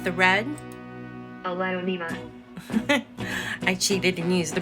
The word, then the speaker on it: Aglaonema: And it is called, it is pronounced the red Alonima.